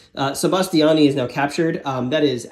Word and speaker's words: Sebastiani: six so uh yeah sebastian sebastiani excuse me i've been saying his name wrong sebastiani is now captured that